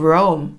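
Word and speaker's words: Rome: 로마의 가본 적이 있다 한국어 발음은 롬 하지만 영어로는 라움 이라고 발음 하셔야 되요 i 펜트 가 움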